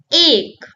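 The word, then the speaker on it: एक: A sounds like say or play. Repeat after me. A, A, A. An example starting from A is ache.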